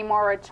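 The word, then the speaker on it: Mauro: also from the show no Mike Plays Kenny moror am I saying it right sure moror she plays in Italian and uh Jamie plays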